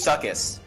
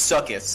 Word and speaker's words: succus: Also, I looked it up. It is succus. Yeah. It straight up is like, figured- like using the pronunciation key. It's succus.